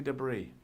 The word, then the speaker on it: debris: Yeah, of course, in England or in Great Britain we pronounce it debris. But I've noticed English people, I've known some use the American pronunciation.